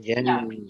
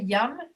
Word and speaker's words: yam: Don't say yum. Don't make it short, because if you say yum, which is what I thought Galina was saying, that is a different sound.